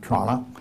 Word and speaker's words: Toronto: Actually, if you're from Toronto, you have to say Toronto. T R A N A. You see, that's the way they say it.